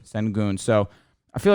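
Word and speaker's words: Şengün: Sengun, help me out with how you pronounce his name. Sengun.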